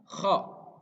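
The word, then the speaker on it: خ: Kho. Nah, huruf kho harus diucapkan seperti orang yang sedang mengorok gitu. Nah, tapi ini harus dilantangkan dengan jelas. Kho. Jadi dimainkannya di tenggorokan.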